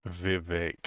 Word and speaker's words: Vivek: Vivek, it rhymes with cake.